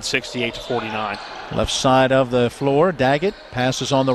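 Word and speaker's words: Flohr: That Floor is spelled F-L-O-H-R. Floor.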